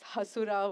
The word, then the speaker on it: Hasura: It's Hasura with the H. Stress. I was not sure how to Uh, pronounce Asura or Hasura.